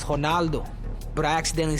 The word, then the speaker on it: Ronaldo: I knew his last name, Candido, but I know uh Ronaldo is not Ronaldo in Portuguese. So, I tried to say it in Portuguese, Honaldo.